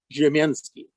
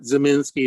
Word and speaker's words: Ziemienski: okay okay um well my name indicates that i'm polish giaminsky is how you say my name but zaminsky is good enough and i have two